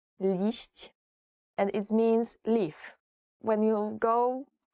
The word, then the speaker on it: liść: I guess it's very difficult to pronounce. Liść.